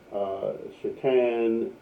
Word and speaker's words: Shahtan: And I'm pronouncing it Shahtan because spelled Shahtan, and that's because in the book the author makes a note that that is the actual pronunciation in writing for Satan, as opposed to obviously just saying Satan.